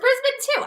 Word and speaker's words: Brisbane: Brisbane. Yeah. Is it Brisbane or Brisbane? It's Brisbane. I thought it was Brisbane too.